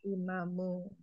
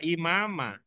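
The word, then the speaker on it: إمام: Mudhof berarti imamu. Imam. Waladi sebagai khobar ya. Walidi Ibu. dia mubtada. Oke. Walidi sebagai mubtada. Mubtada. Berarti imam sebagai Khobar. Kalau dia khobar apa dibaca imamah? Tidak. Tidak. Bacanya bagaimana? Imamu.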